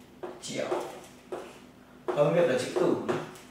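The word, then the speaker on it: 九: Bởi vì cái nó phát âm giống hệt với cái từ là mãi mãi.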